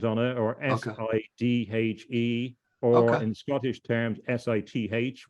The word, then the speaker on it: Sidhe: the Scots Gaelic, is you're getting a Sidhe with a kind of th sound at the end.